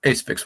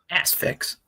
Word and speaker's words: Asphyx: Acefix will forever be my number one. But, oh, yeah. And Hooded Menace is Finnish Asphyx, but just with no thrash moments. Asphyx.